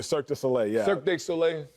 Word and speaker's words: Cirque du Soleil: and go to those circuit day soleils is that how they say i mean cirque du soleil yeah cirque du soleil